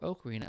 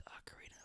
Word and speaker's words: Ocarina: Or Ocarina of Time, if you pronounce it that way. But for those of you who want to pronounce it correctly, it's Ocarina of Time.